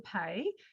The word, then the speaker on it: Paix: So yeah, my name's Paix. So it's a French pronunciation of that word, which means peace in French.